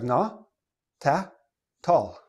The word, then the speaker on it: not at all: So nobody, like native speakers, don't say not at all. Oh no, not at all. We don't say it like that. We say, oh, not at all. Not at all. Not at all. Okay. The T, so this becomes na, ta, tall.